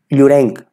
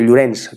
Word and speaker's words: Llorens: Y que Joanot Martorell, Joanot Martorell no es Llorens, el apellido Llorens no es Llorenc, porque es con cedilla, sino Llorens, termina en S.